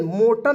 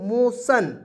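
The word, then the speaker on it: motion: बाद यहां पे देखिएगा एम ओ टी आई ओ एन मोटन नहीं पढ़ेंगे इसे पढ़ेंगे मोशन ठीक है जी तो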